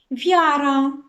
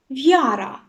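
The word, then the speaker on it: wiara: неї тобто попередню приголосну вяра вяра дивіться тут і не читається не вимовляється взагалі небо небо тежні п'єс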